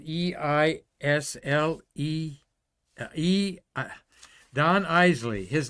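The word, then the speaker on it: Eisele: hi Hazel she said it's pronounced Eisley like The Isley Brothers the the great singing Duo so since she worked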